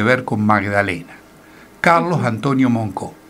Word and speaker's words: Moncaut: con Magdalena, Carlos Antonio Moncó. Carlos Antonio Moncó, Moncaut, se escribe para quien lo quiera buscar, Moncaut, M-O-N-C-A-U-T. Carlos Antonio Moncó fue un historiador regional que vivía en Villa Elisa.